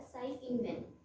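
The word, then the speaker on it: Tsai Ing-wen: और यहाँ के प्रेसिडेंट है, यहाँ के प्रेसिडेंट का नाम भी ई से, जिनका टी साइलेंट रहता है, साई इंग वेन।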